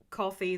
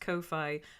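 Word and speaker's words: Ko-fi: I I started up that coffee that should be pronounced Kofi account and I have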